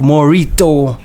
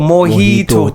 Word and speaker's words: Morhitto: He goes by the name of Morito. Yeah, well, am I calling it right? Mojito. Oh, Mojito. The R is silent, man.